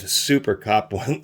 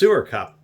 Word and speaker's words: SuerCup: This is almost exactly the same as the Vampo I reviewed earlier, except for this SuerCup, which I thought said SuperCup.